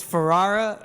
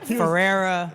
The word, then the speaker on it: Ferrara: do you pronounce your big fans how you pronounce last name it's Ferrara but I told you I told you I get Ferrera farara like naturally when you just see you want